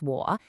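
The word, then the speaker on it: 我: Let's start with the very first Okay, first up we have wo, pronounced wo. It's got that dipping third tone.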